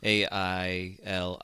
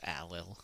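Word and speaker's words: Ailill: best with that like a i l i l l is alil and not like ail as you might pronounce uh in like American English yeah but so we're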